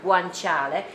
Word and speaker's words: guanciale: you use for this recipe is guanchale so guanchale is a kind of a meat made by a by a pig but it's made with a cheat the cheek of the pork yeah this is pronounced pronounced guanciale and it's made of the cheek of the